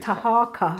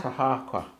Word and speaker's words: Taharqa: Taharqa. Taharqa.